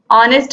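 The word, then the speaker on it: honest: चीज कि ऑरेंज यहाँ पर अ से इसका उच्चारण हो रहा है, सेम जैसे ऑनेस्ट होता है, ऑनेस्ट हम बोलते हैं इसको, तो ये भी अ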